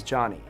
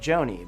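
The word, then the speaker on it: Jony: mispronouncing names for example my name is johnny spelled j-o-n-y and it's normal for someone to pronounce my name like joni but if i were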